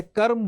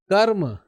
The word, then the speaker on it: कर्म: होगा म से पहले कर्म सर्व कर्म बोलते हैं इसको क्रम नहीं बोलते सॉरी कर्म क्या बोला